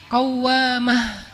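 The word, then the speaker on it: قوّامة: Kalau rajin sholat malam dikasih tasydid, bacanya jadi qawwamah.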